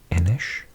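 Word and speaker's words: Inis: watch my videos, you'll have heard me mention previously that this word in Gaelic, so in Scotland and Ireland, is pronounced Enish.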